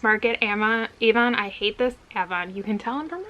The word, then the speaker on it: Avon: of a mass market emma evon i hate this avon you can tell i'm from rochester we have a town in rochester that spelled avon but it's pronounced avon we have a lot of stuff like that